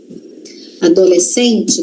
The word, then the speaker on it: adolescente: Adolescente também, ó. Adolescente, mas não é adolescente. Não é adolescente não, gente. Não tem uma respiração ali no meio, não. Adolescente. Adolescente é como se a gente falasse assim, né? A gente fala desse jeito, só que se escreve com SC.